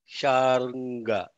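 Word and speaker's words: Śārṅga: Also, the nga, like in Ganga. The nga has to be pronounced from the back of like Ganga. Sharanga. That's the way it has to be said.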